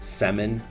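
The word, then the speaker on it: Semin: number nine Alexander semon that's pronounced semon please but you would be forgiven for thinking otherwise many people did most Russian names are pretty straightforward but this one definitely threw some NHL announcers a curveball that is for sure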